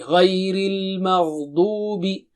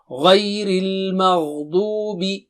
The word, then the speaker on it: غير المغضوب: Du is very, dad is thick and high. Dubi. And make sure you pronounce the dad properly. Dubi. Ghayril maghdubi. So repeat after me once. غير المغضوب غير المغضوب عليهم.